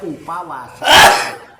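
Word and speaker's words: उपवास: Cuman untuk bahasa Sanskrit itu biasanya kalau terus pakai huruf V dibacanya W, sehingga dibacanya upawasa.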